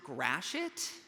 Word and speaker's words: Gratiot: all logic and reason that this street is pronounced Gratiot did I get that right okay okay great